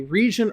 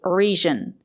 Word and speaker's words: region: It's not correct to say region. We have to say region. We have to use the J sound, not the sound. Sometimes the letter G is pronounced with a sound. But not in this case. We have to say region with a juice sound like in juice and jump.